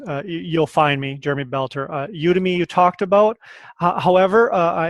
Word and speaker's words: Udemy: Is that how you pronounce it? Udemy, yeah.